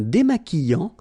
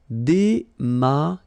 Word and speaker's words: démaquillant: So we've got this Q-U, but then U is not pronounced. So you get the sound qui. Okay, and then remember, double L after E will give you the sound y. Démaquillant. Final T not pronounced. Démaquillant. Okay, and this is nasal in your nose.